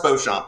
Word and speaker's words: Beauchamp: has been uh B champ have I said that name correctly maybe pronounce it for me Beauchamp it's French tell us a